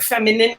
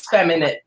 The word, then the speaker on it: Feminit: At first when I was reading online, I was like, femininity? Is it femininity? Everyone is always like, how do you pronounce it? I know, it's Feminit.